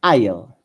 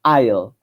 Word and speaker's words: I'll: La I se pronuncia como I, y la doble L no existe en inglés. Solo se escribe, pero se pronuncia como si fuese una L normal. Entonces se pronuncia como I'll.